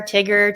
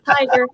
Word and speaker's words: Tiger: for some reason but i had so many interesting pronunciations of my name that i thought well let me help people out because i to get to share tigger to i'm like tiger let me help you